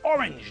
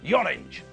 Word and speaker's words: orange: It's orange, not yorange.